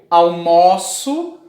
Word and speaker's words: almoço: Como aqui, ó, eu almoço às 12 horas. Essa palavra aqui, ela tem esse o aberto, ou seja, quando tu abre bem a boca para falar, o ó.